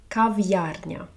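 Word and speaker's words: кав'ярня: coffee place in Ukrainian that's cavara Cava Cav it has an apostrophe in the middle so you separate but here you see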